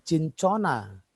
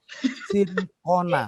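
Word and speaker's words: Cinchona: Sincona. Ya, bukan cincona. Sincona.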